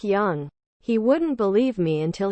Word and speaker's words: Jung: He legit thought Jung was pronounced with a hard J and not the Swiss Y sound to make it sound like Jung.